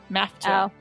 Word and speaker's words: Maffetone: Maffetone.